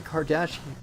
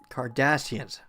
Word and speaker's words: Cardassians: Cardassians. I should say Cardassians. It's the emphasis on the S.